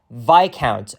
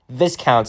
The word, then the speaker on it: Viscount: it is actually pronounced VI count not Viscount so otherway around the S is silent so it's another street